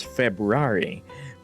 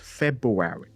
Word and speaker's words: February: I pronounce the second month of the year as February. Thanks, Panari. Me too. Gosh, I hate how people don't pronounce it with R. Right? How do they say it? February.